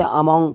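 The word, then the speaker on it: among: तो अमल इस्तेमाल करेंगे, अमंग इस्तेमाल करेंगे। बहुत से लोग इसे अमोंग पढ़ते हैं, अमोंग, इसकी प्रोनाउंसिएशन करेक्ट होती है अमंग।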